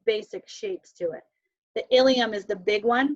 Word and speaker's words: ilium: Ilium, ischium, coccyx, and sacrum. That's how you pronounce those.